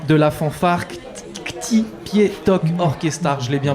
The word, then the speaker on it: Ktipietok Orkestar: est avec Fred de l' de la fanfare pi to orchestar je l'ai bien prononcé c'est parfaitement ça c'est parfait ça merci